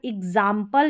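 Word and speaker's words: example: अब यहाँ पर देखें, यहाँ पर एग्जाम्पल या एग्जाम्पल दोनों तरीके से हम प्रोनाउंस करते हैं इसको।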